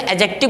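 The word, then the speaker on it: adjective: हैं एडजेक्टिव बोलते हैं और एडजेक्टिव भी नहीं बोलते उसे एडजेक्टिव बोलते हैं क्योंकि डी साइलेंट होता है वो मैं आपको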